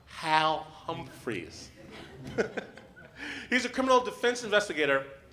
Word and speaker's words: Hal Humphreys: Our next guest, his name is pronounced Hal Humphreys.